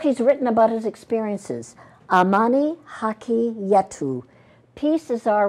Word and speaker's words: Amani Haki Yetu: and the book he's written about his experiences, Amani Haki Yetu, Peace is Our Right, Peace in Kenya. Did I say this right? Did I pronounce this yes, right?